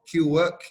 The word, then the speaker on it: Qwork: It's pronounced Qwork, not Qwork. Qwork, yeah, like the English word Quirk, like quirky.